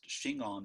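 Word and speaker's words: Shingon: mean true word and those ideograms which are pronounced chingon in japanese is the name of school of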